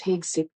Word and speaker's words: Hegseth: Rhymes with egg and Beth. The last name is phonetically spelled HS theta, with the emphasis on the first syllable, HEG, followed by Seth. Key pronunciation details. Pete, like the name Peter. Hegseth, Heg, sounds like egg, plus Seth, sounds like Beth or breath.